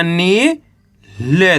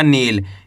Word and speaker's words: नील: ऐसे नहीं पढ़ना नील। अगर आप नील पढ़ दोगे तो यहाँ पे छोटी की मात्रा का उच्चारण हो जाएगा। ये किसकी मात्रा है? छोटी की मात्रा, और ये बड़ी की मात्रा, इतना फर्क है।